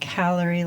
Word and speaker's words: Callery: Callery like gallery, only with a C.